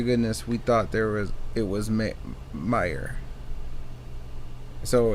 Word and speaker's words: Mayer: Honest to goodness, we thought it was Meyer. So it's it may have been spelled Mayer, but everyone pronounced it Meyer.